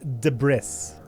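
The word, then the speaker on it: debris: Hoss can you find it the bris is pronounced de bris that's right repost repost that's what I'm gonna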